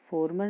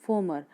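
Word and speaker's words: former: द फॉर्मर mayor, फॉर्मर नहीं फॉर्मर, एम है आर के बाद तो आर जो है साइलेंट है।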